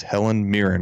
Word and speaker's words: Helen Mirren: journalist's first thoughts on the recent outrage against helen mirren right that's how you say her name yes